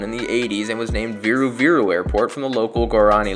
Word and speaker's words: Viru Viru: a whole that is if it is even viru viru as some people think it was originally supposed to be started with a B pronounced biru biru regardless it's a fun